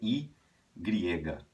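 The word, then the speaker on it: y griega: tá tanto é que o nome dela em espanhol seria i griega i griega e onde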